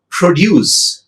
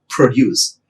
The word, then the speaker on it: produce: Produce, noun, first syllable, per, produce. Verb, produce, de.